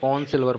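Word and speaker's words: horn silver: देखिए ऑन में जो हॉर्न सिल्वर ना, हॉर्न, इसको हॉर्न नहीं पढ़ते, ऑन ही पढ़ते हैं। इसमें H जो और R साइलेंट होता है, H और R दोनों ही साइलेंट होते हैं। तो ऑन सिल्वर पढ़ते हैं, इसलिए क्या करेंगे, ऑन सिल्वर।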